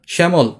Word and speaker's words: শ্যামল: শ্যামল এখানে কি জফলা উচ্চারিত হচ্ছে? না। কিন্তু এটার উচ্চারণটা হচ্ছে কেমন? এরকম। একারান্ত উচ্চারণ হচ্ছে।